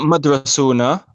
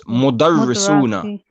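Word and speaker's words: مدرسون: Not madrasuna. Remember, there's madrasatun, which means a school. It's mudarrisuna.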